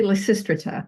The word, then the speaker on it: Lysistrata: This title is pronounced at least 3 different ways by actual scholars. So how do you like to say the title? Classicists say Lysistrata.